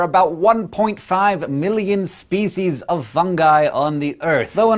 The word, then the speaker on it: fungi: the wonderful world of fungi or fungi both are acceptable pronunciations but I say fungi because it's fungus not